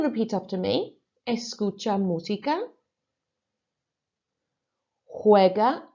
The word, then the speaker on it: juega: Juega a los videojuegos. Remember, really concentrating on those J sounds sounding like an H.